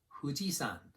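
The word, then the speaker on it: 富士山: h sound or an f sound it's kind of both you make it by like try saying the word who without rounding your lips think of blowing out a candle so it's fujisan not mount fuji again no exceptions in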